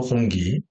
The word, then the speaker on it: 홍치: 마을시에 있는 홍기 특대교 우리 발음으로 홍기 중국 발음은 홍치가 됩니다. 홍치 특대교 붕괴 영상부터 보시죠.